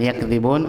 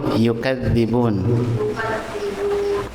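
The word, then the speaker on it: يُكَذِّبُونَ: fi qulubihimu gak fi qulubihimu marun teruskan fiubihimuardun faza marun wumu alimun yu ibnu katsir membaca yuk Y yukadzibun bukan yakzibun. Yukadzibun.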